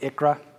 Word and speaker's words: ICHRA: That's a mouthful, so I'm going to phonetically pronounce it ICHRA.